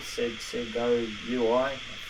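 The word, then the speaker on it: Segoe UI: I've got a favorite, something that I find very readable, Sego UI, that's how you say it.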